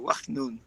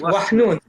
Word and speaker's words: Wahnoun: Oh, well, I'm not going to say it like an American. I'll say it like I would say it in Morocco and Israel. Wahnoun. Go for it. Wahnoun.